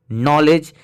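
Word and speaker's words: knowledge: आधा अन ही निकले और अगर कोई वर्ड जी पर खत्म हो रहा हो और उससे पहले भी आए तो दी साइलेंट हो जाता है जैसे ब्रिज नॉलेज देखिए इसमें दी आया है इसलिए दी साइलेंट हो गया अगर जी के पहले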